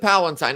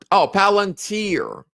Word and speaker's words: Palantir: Or is it Palatine? I always mispronounce it. Palantir.